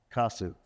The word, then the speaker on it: Kosuth: I hope I pronounced your name. Try to give it a shot. Kosuth. That's very good. Kosuth. Yeah. Kosuth, okay.